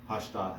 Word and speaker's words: pashta: 2 pashta example because it's got its accent on the last syllable. So all you can really sing when you have pashta on a pashta is pashta, and the accent is on the ta.